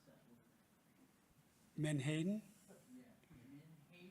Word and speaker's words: menhaden: How do you pronounce that word? Menhaden? Yeah, menhaden?